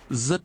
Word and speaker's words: Rất: Rất vui. Rất vui. Rất. Rất. Rất. Rất. Rất is Rất. pronounced with a rising tone.